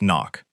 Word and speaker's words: NOC: NOC. Pronounced knock.